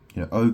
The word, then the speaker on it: eau: O can mean water in French. EAU is pronounced O, and it means water.